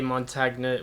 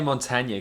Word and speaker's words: Montagna: obviously Italian heritage rich I know the G should be silent exactly ok 10 so